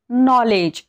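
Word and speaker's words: knowledge: के हे सायलेंट राहतं आता याचं एक्झाम्पल नॉलेज इथे बघा एन च्या आधी काय आलेला कोणता लेटर आलेला आहे के आलेला आहे पण आपण के चा उच्चार करतो का नाही याला काय म्हणतो आपण नॉलेज म्हणतो का नाही याला काय म्हणतो नॉलेज इथे एन चा उच्चार होतो के चा नाही नॉलेज आहे नॉलेज म्हणजे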